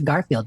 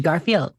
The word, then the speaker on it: Garfield: Garfield should not be a 3-syllable name. Interesting. No, it's just Garfield.